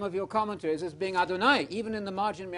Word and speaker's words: Adonai: One God, one exalted Adonai. That's what Sarah calls Abraham. Adonai. That's what Abigail calls David. Got it? That's the non-deity title. Adonai, Adonai, Adonai. You know Adonai. It rhymes with El Shaddai, El Shad.